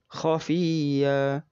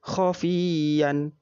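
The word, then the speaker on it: خفية: lingkaran dan tanda pannya khofiya khofiya dibaca panjang satu Alif tidak boleh dibaca khofian salah jika dibaca khofian berikut contoh jika dibaca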